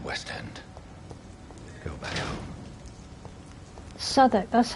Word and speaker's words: Southwark: Southwark, that's how you say it.